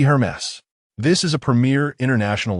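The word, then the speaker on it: Hermès: Taking the bracelet and scrutinizing it for a while before slowly pronouncing Hermes. Xiaophone gently shook her head with a smile. Your pronunciation is incorrect. It should be Hermes.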